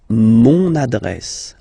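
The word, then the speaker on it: mon adresse: monad monad my address monad monad okay you can hear now this little link so you've got to pronounce this n monad monad okay and the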